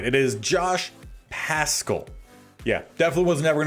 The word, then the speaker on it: Paschal: It is Josh Paschal.